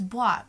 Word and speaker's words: bois: and then you're like, oh, I think it's bois, B-O-I-S, and then you're like, okay.